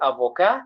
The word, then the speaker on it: avocat: We say avocat, T is silent.